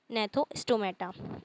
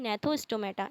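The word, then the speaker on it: Gnathostomata: एग्नेथा एंड नेथोस्टोमेटा। इसके अंदर जी silent होता है। एग्नेथा एंड नेथोस्टोमेटा।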